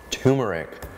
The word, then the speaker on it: turmeric: Do you think I should be pronouncing the R in turmeric? Turmeric? I got a comment saying, Dylan, why aren't you pronouncing the R in turmeric? And so I think that's one of those words that it's actually pronounced 2 ways.